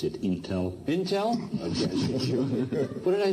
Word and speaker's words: Intel: Leader Award goes to Andy Grove, former Chairman and CEO of Intel.